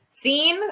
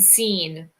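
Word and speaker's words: Cine: about ouija boards um scene i believe it's pronounced like scene because when he got picked rich eisen said and seen oh okay i feel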